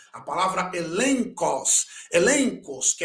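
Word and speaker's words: ἔλεγχος: Na palavra elencos, também, prova, consideração interior ou convicção interior.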